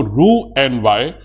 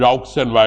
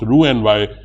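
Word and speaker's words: Roux-en-Y: or Gap then do Ru n y the spelling is r o u x e n y but don't call it R and Y it's pronounced Ru n y hipo josy what I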